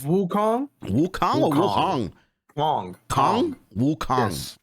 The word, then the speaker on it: Wukong: Wukong. Yes. I thought it was Wuhong. Like the K is silent.